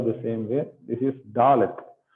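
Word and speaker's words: דָּלֶת: This is Dalet. So the sound is D as in door. So when you pronounce door, so the da sound is what called Dalet sound.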